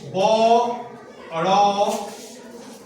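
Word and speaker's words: বড়দা: বড় দা বড় দা কিন্তু যখন আমরা উচ্চারণ করি বড় দা তখন আমরা উচ্চারণ করি এভাবে বর্দা ঠিক আছে বড় ধাদা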